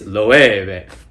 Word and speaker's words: Loewe: It's Loewe.